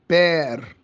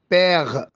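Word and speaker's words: père: بير. بير. ما اقولش، ما انطقوش اي. بير. وبننطق حرف الار ينفع انطقه حرف غين، يعني ممكن اقول ايه؟ بيغ.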